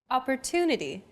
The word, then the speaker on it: opportunity: Opportunity. The stressed syllable to in opportunity is deemed more important, so it's pronounced longer than all other syllables.